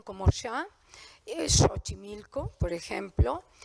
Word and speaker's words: Xochimilco: español como préstamos duros si muchísimas x se pronuncian como ya es Xochimilco por ejemplo y en algunos casos se puede